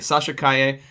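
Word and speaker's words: Calle: The L okay, is silent. Okay, Sasha Kaye.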